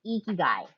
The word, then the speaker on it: Ikigai: And a quick pronunciation note. It is pronounced Ikigai.